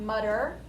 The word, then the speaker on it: mutter: it has two t's we would say that more as a d sound mudder rather than mature we normally say it